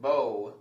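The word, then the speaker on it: bough: Rough does not rhyme with cough, neither does it rhyme with bow, which is B-O-U-G-H.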